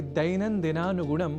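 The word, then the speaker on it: दैनन्दिनानुगुणम्: प्रत्यक्षतः भवतः परोक्षतः च संस्कृतं सेवमानः अहमस्मि आगतः दैनन्दिनानुगुणं नारायणदत्तमिश्रः। आपने ध्यान दिया होगा कि दैनन्दिनानुगुणम बोलने के क्रम में मैंने ऐ इस अक्षर का विशेष रूप से उच्चारण किया है, क्योंकि संस्कृत में अक्षरों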